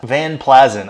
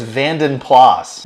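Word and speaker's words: Vanden Plas: and I was like there's something off of about that van plazan I'm pretty sure it's vanen plas and I googled it yeah vanen plas I don't know where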